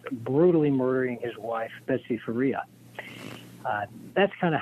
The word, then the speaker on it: Faria: what was the circumstances of Betty Faria is pronounced Faria Faria Betty Faria what were the circumstances of her